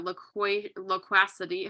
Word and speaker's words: loquacity: Talking a lot, that loquacity, how do you even say that?